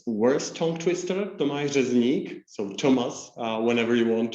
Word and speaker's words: Tomáš Řezník: would be the German pronunciation, and simply. And to me, it's worse tongue twister, Tomáš Řezník, so Thomas, whenever you want to.